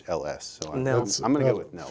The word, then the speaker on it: Nehls: It's Nehls.